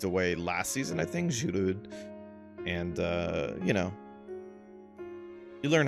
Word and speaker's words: Giroud: that recently moved away last season, I think, Giroud. And, you know, you learn how some things are pronounced.